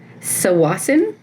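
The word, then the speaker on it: Tsawwassen: work so we were heading to sasin yes that is how you pronounce it um to go to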